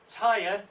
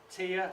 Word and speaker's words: Tyr: win the wall as tired Tyr the dyslexic Indian is the God of War that's the good of war tire tear however you want to pronounce it house courage and energy